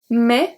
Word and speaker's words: mais: Mais, the S is silent.